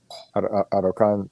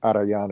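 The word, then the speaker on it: Arrayán: We lived on the river, on the uh, Araucan River. Uh, let's see, I'm saying that wrong. Anyway, we lived on the river that flowed into the Mapocho River. Arayan, I said it wrong. Arayan is the river we lived on.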